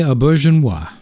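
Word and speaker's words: Auberjonois: say it you said it last time Renee ainoa that's right Renee ainoa plays FL again who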